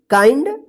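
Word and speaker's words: kind: यहां पे भी एनडी तो क्या पढ़ेंगे इसको काइंड माइंड इसको बंड मत पढ़िए किंड मत पढ़िए तो गलत हो जाएगा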